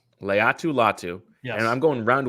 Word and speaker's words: Laiatu Latu: How is it pronounced? Laiatu Latu.